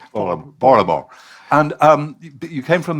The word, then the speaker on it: Baltimore: We don't pronounce the T in Baltimore. Baltimore.